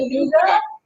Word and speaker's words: Chattanooga: Chattanooga.